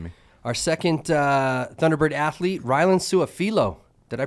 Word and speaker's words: Rylen Sua-Filo: Our second Thunderbird athlete, Rylen Sua-Filo. Did I pronounce that right?